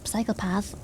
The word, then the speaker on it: psychopath: Apparently you don't say the P, but I just think it sounds weird without the P. Yeah, I just say psychopath.